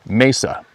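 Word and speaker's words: mesa: Anyway, this river where we were flowed through a canyon with high canyon walls that actually are messes, pronounced messa, and it means table in Spanish.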